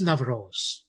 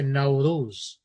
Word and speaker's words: Nowruz: So what is Navroz? What is? You know, people say Navroz, N-A-V-R-O-Z, which is what it is. But in the Persian language, they say Nowruz. Doesn't matter how you say it, as long as you identify with the meaning.